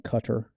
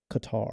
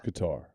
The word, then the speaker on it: Qatar: my son let me know that I was pronouncing it wrong because I was saying Qatar the whole time, and he wanted me to let me know that it was Qatar. It's Qatar.